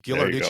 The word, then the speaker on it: Ghilarducci: and I want to make sure that I pronounce his name right. Ghilarducci, is that right? Ghilarducci. Ghilarducci.